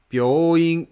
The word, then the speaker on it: 病院: Word hospital, 病院 is flat. So the first B is low, and the rest of the moras are pronounced with middle flat pitch.